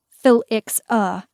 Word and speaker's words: Felixa: It was Felixa. Phil-ix-a. God forbid anyone ever pronounce it wrong, of Haversey.